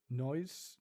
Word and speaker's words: nós: Nós não falamos alemão. Nos is it? See, it's weird because like this guy pronounces nos as nós, nós, nós não falamos alemão.